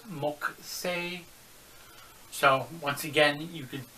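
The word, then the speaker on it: 木星: again you could say moku say that's how the actual way to say it but the japanese once again that you odd rule where the u was silent before the k or sometimes after the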